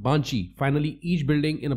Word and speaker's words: 番地: With the Shome address system cities are divided into districts, then each block in the district is numbered pronounced Banchi.